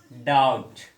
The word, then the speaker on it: doubt: B before word final T is silent. B before unde final T unte that letter is silent. For example, doubt, debt.